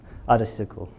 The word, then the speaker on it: OHDSI: Do I pronounce it properly, Frank? OHDSI. Yeah, sorry for my accent. OHDSI, right.